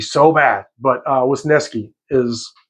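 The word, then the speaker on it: Wisniewski: Uh that's the pronunciation guide. I want to say Wasnooki so bad. But, uh, was Neski is how they say you pronounce it.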